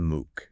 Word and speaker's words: Mook: We are talking of course about Elton Moo. Moo. M O K pronounced MOO.